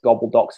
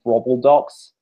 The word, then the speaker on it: gobbledocks: there's minor things like bad American pronunciation of the words gobbledocks as grobbledocks, which I think is pretty cringy.